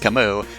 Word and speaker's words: Camus: pretty cool dude also his name should be pronounced camus but that i'm just going to pronounce it camis so going forward it's kamus now unfortunately kamas was defeated